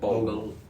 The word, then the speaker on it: Bogle: ก็ถ้าต้องแนะนำหนังสือของคนหนึ่งนะครับแอนดรูก็แนะนำหนังสือทุกเล่มเลยนะครับของจอห์น How do you pronounce Bogle. Bogle.